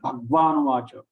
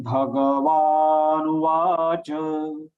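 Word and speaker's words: भगवानुवाच: Shri Bhagavan Uvacha Once again, Shri Bhagavan Vacha, not Bhagwan Vacha.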